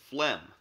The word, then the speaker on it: phlegm: a burp or fart there's also feh like pH which is phlegm and that's excessive mucus